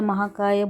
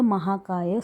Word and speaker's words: Mahakaya: Repeat with me: Vakratunda Mahakaya Surya Koti Samaprabha. Focus on the long A in Kaya and Sarvada.